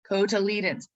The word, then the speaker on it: cotyledon: and the eudicots is the number of cotyledons cotyledons or embryonic leaves and that if you uh